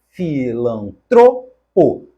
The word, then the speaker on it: filantropo: letra D não foi o correto é erudito a palavra é paroxítona assim como devemos falar filantropo a palavra também é paroxítona e finalmente rubrica outra paroxítona na letra a nós